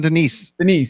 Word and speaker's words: Diniz: From used to be Horizon, Diniz. Oh, John Denise.